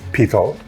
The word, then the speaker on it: P-Tal: Now, I've been instructed that the correct pronunciation of the company name is P-Tal, rhymes with beetle for those who aren't Hindi speaking, and it means brass in both Hindi and Urdu.